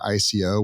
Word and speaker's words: ICO: initial coin offering or Ico which is rhymes with with IPO like there's a lot